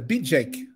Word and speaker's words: Bidjeck: you pronunciate very well b jake that's the my name is bj yeah it's good and